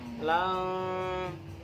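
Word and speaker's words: لن: Jadi bukan lan, tapi lang. Berapa? Didengungkan 3 harokat. Jadi membacanya itu bukan lan tanah, bukan, tapi lang tanalul.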